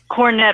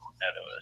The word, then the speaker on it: Cornetto: There's cornett. Cornetto. Sorry. Sorry. Cornettos. We can't pronounce it.